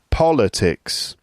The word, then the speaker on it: politics: on the second syllable so politics politician political politically right so that's a word